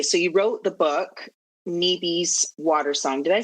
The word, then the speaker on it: Nibi: Okay, so you wrote the book, Nibi's Water Song.